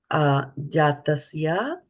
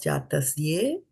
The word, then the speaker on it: jātasya: Jātasya and not jātasye.